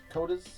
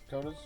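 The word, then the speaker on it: Koteas: But Elias Cotis K O T E A S Cotas. Cotas.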